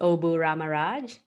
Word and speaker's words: Obu Ramaraj: thanks for having me here my name is obu ramaraj thank you she's an entrepreneur an author a